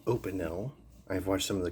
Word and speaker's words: Opinel: made knives these are from a brand called opinel i've watched some of the company's videos and the people that run the company pronounce it opinel so we'll go with open now you'll probably